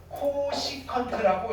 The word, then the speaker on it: 코시컨트: CSC 세타라고 쓰고요. 뭐라고 읽으면 되느냐면요. 코시컨트라고 읽으시면 돼요. 코시컨트 세타라고 읽으시면 됩니다.